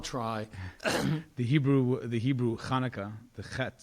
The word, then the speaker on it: Chanukah: was hoping you'd pronounce khaka really well as well I'll try the Hebrew the Hebrew Kana the the beginning sound is not really found in English so it's a tricky one doesn't really have that